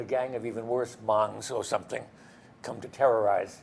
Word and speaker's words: Hmong: Pronounced Hmong.